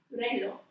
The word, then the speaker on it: reloj: Excuse me, I kind of rolled my R. Reloj. So another funny Spanish thing is the tap and the trill R. You may have heard of it, where you roll your R, and then there's just a tap, which actually is more like the closest phoneme to it in English would be the D sound.